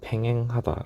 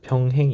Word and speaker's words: 평행: 쎔 잡고 사투 쓴다고 팽 하다 라고 얘기하는데 아닙니다 평행 입니다 뱅뱅 아닙니다 평 발음 바로 하세요 그래서 ab 의 조건을